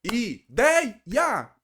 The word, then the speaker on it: ideia: A separação I, dei, a. Professor, a sílaba tônica, dei, é como se você estivesse gritando na casa da pessoa. I, dei, ya.